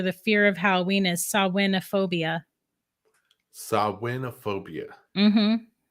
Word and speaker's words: Samhainophobia: It's technically Samhainophobia. um, Samhainophobia. I got to get it right because Samhain is it's spelled Sam Hain, but that's not how you say it.